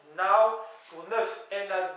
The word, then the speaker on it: nav: j'avais dit dans les chiffres nav alors qu'on prononce now pour ne na a W en prononciation mais